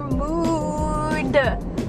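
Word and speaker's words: Moo'd: got a peanut butter mood I say it like that because it was m o o apostrophe D so like moo like a cow I guess I don't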